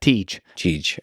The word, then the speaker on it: Tej: Tej. Okay, Tej. It's TJ would be his name, but we call him Tej.